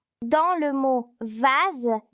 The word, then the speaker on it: vase: Dans le mot rose, S se prononce Z. Je remarque que la lettre S est entre la lettre O et la lettre E. Dans le mot vase, S se prononce Z.